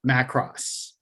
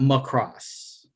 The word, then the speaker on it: Macross: who may be watching this later is it's pronounced macross it's not is in bernie mac imac uh big mac it's not my cross so you forgot return of the mac all